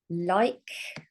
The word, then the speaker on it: like: So we have like with a long I and a quiet E.